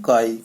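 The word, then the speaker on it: χ: इसको ऐसे बनाना है, ये काई कहलाता है, ये ऐसे बनाना है, और ये इसको कैसे प्रोनाउंस करते हैं, काई, काई।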